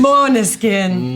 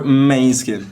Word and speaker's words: Måneskin: go go first question how to pronounce my skin correctly no B name mon skin mon skin but no one's ever going to pronounce it yeah we we don't even say it so the new pronunciation it's man skin or main skin no pleas no main